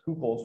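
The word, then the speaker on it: Hückel: The umlaut means that you say it like it's two of those letters in a row or something like that. So it's not Huckel's rule, it's Kupel's rule.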